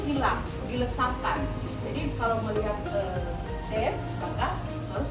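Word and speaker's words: です: Jadi kalau melihat des, maka harus diucapkan. Kalau desu itu harus des, kemudian kalau masu itu menjadi mas.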